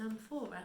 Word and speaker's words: amphora: Now, an amphora, we can look at the back, is amphora, and it's given me how to say it as well.